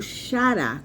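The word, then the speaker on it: χαρά: Então, a palavra, né, grega dá origem ou rará, esses dois Rs aqui na garganta, rará ou xará. Essa é a pronúncia que nós damos a a palavra grega, mas comumente pronunciado como xará, com som de ch.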